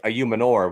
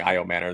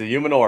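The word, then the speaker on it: Ayomanor: 44, Elik Ayumanor, wide receiver out of Stanford. I just found out that's how you pronounce it, like yesterday. I've been saying Io Manor this whole time.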